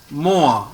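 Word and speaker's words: moi: No, OI is pronounced as OA. OA. More. Moa.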